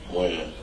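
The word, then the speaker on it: Wynn: Win.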